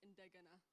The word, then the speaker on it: Indegana: Yeah, but the pronunciation of it is Indegana. Okay. not je.